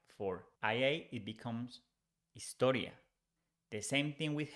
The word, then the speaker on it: historia: History, if we change Y for IA, it becomes historia. The same thing with H. We don't pronounce H in Spanish. So instead of saying historia, we say historia. So history becomes historia in Spanish.